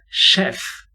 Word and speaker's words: chef: chef not chef chef chef is actually a french pronunciation it's not the only